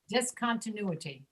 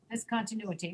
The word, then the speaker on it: discontinuity: Discontinuity. Discontinuity. Discontinuity. Yep, discontinuity. Discontinuity. Notice that this I, the second I, discontinuity, the second I, the sound is reduced to a schwa.